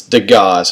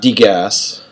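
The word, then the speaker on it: Degas: not very much and it's de gAHS how you say his name not D gasps okay I've had students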